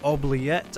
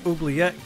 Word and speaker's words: Oubliette: Today, I wanted to talk to y'all about Nihil's Oubliette, I believe is how you pronounce it, and his key to enter the Oubliette as well.